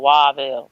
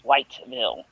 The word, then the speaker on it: Whiteville: I'm sorry, they call it Waville, but it's Whiteville. That's how it's spelled.